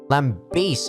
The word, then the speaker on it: lambast: It's supposed to be lambaste? There's supposed to be E at the back there. It's a different saying for criticize. Okay. No. Lambaste is how you say it. But it's actually lambast.